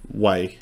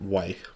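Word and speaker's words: WEi: It's going to be Way. Yeah. The boy group, Way. Yeah. Spelled W-E-I.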